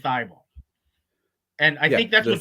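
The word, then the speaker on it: Thybulle: the hard work uh daryl mori called uh matisse theible uh tybal uh like 20 times in the party i think he doesn't know how to pronounce his own player's name i i i've only ever heard anyone else call him thy ball and i think that's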